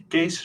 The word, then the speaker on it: Kees: So Keys was first in the meeting. Do you want to introduce yourself? Oh yeah, please. It's pronounced Kees, by the way.